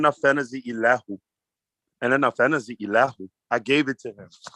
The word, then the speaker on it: Ilahu: I-L-A-H-U. I-L-A-H-U. And that's pronounced Ilahu. Ilahu.